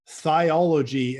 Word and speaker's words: Thiology: It's called Practical Thiology. And I will say that I'm not reading that wrong. They spell it Thiology.